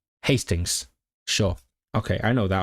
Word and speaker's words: Hastings: Is it Hastings or Hastings? I actually don't know how to pronounce it. It is Hastings.